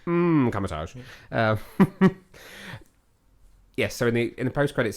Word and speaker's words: Kamar-Taj: It's a silent M at the beginning of that. Kamatage.